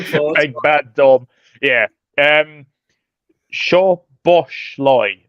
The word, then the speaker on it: Szoboszlai: Szoboszlai. I think one of the Z's is silent, so I think it's Szoboszlai.